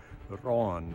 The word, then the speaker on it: Rán: shipwrecks in Norse mythology named Ron, or in modern Icelandic pronunciation, Raun.